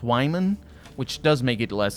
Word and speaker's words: Wyman: was before the first game and apparently it's pronounced wyman which does make it less confusing but also